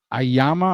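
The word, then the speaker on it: AYMA: revolutionary type thing going here it's a it's ayama I'm gonna pronounce it but it's a y m a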